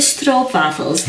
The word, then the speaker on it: stroopwafel: These are the stroopwafels. Notice again the Delfts Blauw theme here. Stroop. How does a Dutch person pronounce it properly?